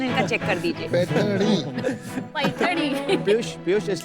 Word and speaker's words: Paithani: स्लोनी, पैठनी, वो जरा प्रोनाउंसिएशन इनका चेक कर दीजिए. पैठनी। पैठनी।